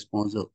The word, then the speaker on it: Poisson: are going to use is equal to poison but it is pronounced as sponsor p o okay personal distribution